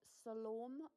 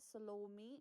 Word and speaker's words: Salome: And Salome popped up in my head. You could pronounce it Salome or Salome, depending on where you are in the world.